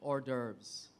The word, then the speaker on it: hors d'oeuvres: r e s order it's French that's why the e at the end you don't normally s uh ex say it or if you're pronouncing the word but it's been anglicized so people can say hors d'oeuvres as well it's actually French so